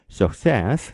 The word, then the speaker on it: success: 앞에 있는 suc 그러면 shock 그리고 뒤에 있는 cess 그러면 says 그래서 success 이렇게 읽습니다.